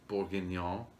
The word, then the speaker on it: bourguignon: then in the photos we have the beef bourguignon with crushed potatoes yep is that how you pronounce that yeah it is okay good good